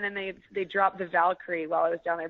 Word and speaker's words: Valkyrie: they they dropped the valkyrie while I was down there because obviously the bees and bees are pronounced differently in Spanish so they kept referring to me as yeah so i got